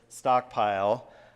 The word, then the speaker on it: Stockpyl: in it so it's stockpile pronounced just like the regular word but spelled with a py so um I I